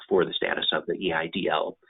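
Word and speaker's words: EIDL: the status of the e IDL it's pronounced idol in SBA speak so you may hear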